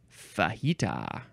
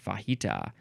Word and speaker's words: fajita: okay h next is fahita oh yes fahita uh you can the first syllable can be F or fa fahita fahita it is